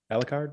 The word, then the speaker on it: Alucard: uh alucard alacarta alcarde how do you pronounce it alucard yeah a la carte yeah it's like tracker backwards yeah so uh he